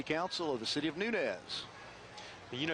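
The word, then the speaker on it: Nunez: of nunz you know you've got to have some Emanuel County training to know how to pronounce that because I've seen people that see a sign and they Nunes it's nunz Nunes right there's our local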